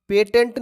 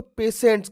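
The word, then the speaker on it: patients: याद होना स्पेलिंग आपको पी ए टी आई ई एन टी पेटेंट नहीं कहेंगे इसको पेशेंट्स करेंगे अब इसमें एस लगा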